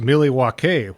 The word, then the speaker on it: Milwaukee: You know, Milwaukee is an indigenous name. It's actually pronounced Milly Wauke, which is Algonquin for the good land.